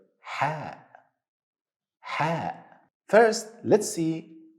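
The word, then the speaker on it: ح: exist in English language it's close to letter H sound but less deep in your throat so you don't say you should say another easy way to practice how to say this letter same sound you make to cool your mouth after eating something spicy when you eat something spicy you will say this is the same sound repeat after me ha ha third letter today and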